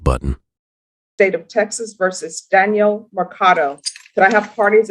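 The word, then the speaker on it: Danyl: defense and are you Danielle? Yes, your honor. And how do you pronounce your first name? Because that's a different spelling. It's spelled D A N Y L. It is pronounced Daniel.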